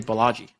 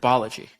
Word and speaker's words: Balaji: with Biology yeah right I always want to say Balaji but biology I think either will work like how you pronounce it it says more about where you're from than where what he wants okay yeah so um